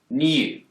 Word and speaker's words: new: In the word new, Brits will tend to pronounce a y sound here, new. But Americans don't. They've dropped the yod.